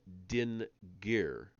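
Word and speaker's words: DIN.GIR: We are back to Sumer and the Din Gir. Remember those words that have the period in the middle to make them very two distinct syllables. D-I-N period G-I-R.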